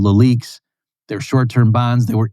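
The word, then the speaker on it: LELIQ: also was talking about leaks and things like that. So, I'll just spell out that. That's the last point I'll make here. Okay. So, leak which is spelled L E L IQ and then the plural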